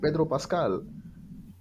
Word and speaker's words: Pedro Pascal: Pedro Pascal.